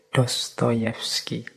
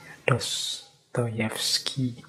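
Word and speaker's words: Dostoyevsky: suka dengan novel-novel jadi dostoyevski ini ini mengucapkannya harus agak pelan-pelan nanti kalau kepeset ya fodor mikhailovik dostoyevski ini membacanya kurang lebih seperti itu kalau tulisannya kadang-kadang Ada yang mengecanya dostoevski tapi membacanya biasanya Ya seperti tadi dosski baik beliau ini filosuf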